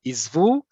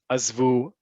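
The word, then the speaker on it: עִזְבוּ: writing in the Q&A, I gave you both the formal Hebrew, which is azov, izvi, izvu. And then parentheses, I gave you what you're likely going to hear on the street. At least this is all I've heard of this when it's used in everyday communication, which is azov, azvi, singular feminine, azvu, plural. Okay?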